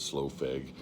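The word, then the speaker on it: Slough Feg: say it it looks like it should be SLU FEG but I know I've heard the majority of people pronounce it slow FEG uh they've done some stin and Angel witch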